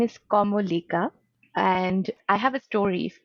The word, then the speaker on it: Kamolika: pronounced as orno which is very hard to pronounce i know even for bengalis and my last name is como lika and i have a story for and like